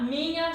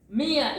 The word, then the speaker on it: minha: You see here this NH, you pronounce like in lasagna, you know? So lasagna, this GN here in lasagna, it's an Italian word that English took it from them. So this GN, it's similar to our, I'm sorry guys.